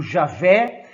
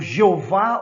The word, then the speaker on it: Javé: O Deus único, o Javé, o Jeová ou Yavé. Existem aí várias denominações, várias formas de pronunciar esta nomenclatura, que é o Deus dos judeus. Javé, Jeová e Yavé seriam as mais clássicas, tá?